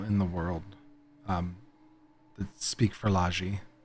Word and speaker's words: Fehralji: Feralji is Fehralji.